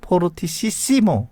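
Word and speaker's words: fortississimo: 만약 더 세게 하라 그러면 세게 FFF 해가지고 뭐라고 읽어요? 포르티시시모, 이런 식으로 이렇게 됩니다.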